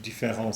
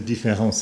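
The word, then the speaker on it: différance: where, as you know, in French, différence spelt with an A is pronounced exactly the same as différence spelt with an E.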